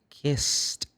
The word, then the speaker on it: kissed: if I say kiss the pass is kissed kissed no kiss kissed no not kissed no it's kissed kissed as you can see you can see up there kissed like k i s t Park parked because you